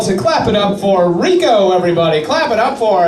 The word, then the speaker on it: Rico: I like to spell it R-I-C-O. I pronounce it just like it sounds, Rico, from a small corrupt town in New Jersey.